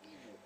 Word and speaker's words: Igbo: And the pronunciation itself is never Igbo. It's Igbo.